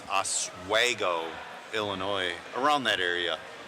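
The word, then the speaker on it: Oswego: from uh I was saying it wrong it's aswo Illinois around that area yeah we'll end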